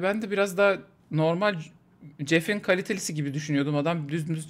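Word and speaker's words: Geoff: Jeff diye okunuyormuş lan bildiğimiz.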